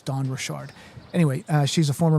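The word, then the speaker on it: Dawn Richard: kind of some debate this morning about how her name is pronounced Don Richard. Um but when you hear her pronounce it, she says her name is Don Rashard.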